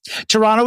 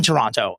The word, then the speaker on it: Toronto: You know, I had no crowd in Toronto. Excuse me. I was also told it's pronounced Toronto, not Toronto. That's a tell, I guess, when you're there if you pronounce it Toronto, which explains why my wallet was stolen.